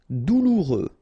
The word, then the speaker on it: douloureux: Douloureux. Remember, final X not pronounced, so you get this OU together. Ou, douloureux.